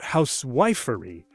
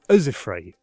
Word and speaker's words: housewifery: Meter can also reveal stress, not housewifery, but housewifery.